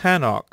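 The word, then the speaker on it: חנוך: son's memory be eternal the name enoch in the original hebrew is pronounced hanok it means dedicated it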